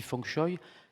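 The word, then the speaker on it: feng shui: le la philosophie asiatique on appelle ça s'écrit fengchui mais ça se dit fchoy ça veut dire vent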